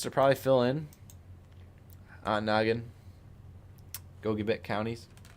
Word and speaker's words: Gogebic: Ontonagon, Gogebic counties. Pronounce that right, Ryan, right? Gogebic. Gogebic.